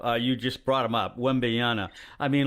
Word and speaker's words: Wembanyama: You just brought him up, Wembanyama. I mean, like, wait, one more time. Wembanyama. It's an M at the end there. Wembanyama.